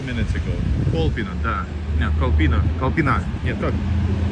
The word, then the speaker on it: Kolpino: Kolpina, да. No, Kolpina. Нет, как? Kolpina. Вот. Man, it's hard to pronounce to make the right.